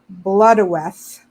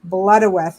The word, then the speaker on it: Blodeuwedd: Pronounced Blodeuwedd, Blodeuwedd, meaning flower face or the ancient word for the owl.